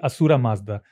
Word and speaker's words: Ahura Mazda: story begins from there, because it's actually Asura Mazda, because they don't have the word. As I said, Sindhu becomes Hindu. Mm. The name comes from Persia, because the river Sindhu, they could not pronounce the S, so they changed it to H.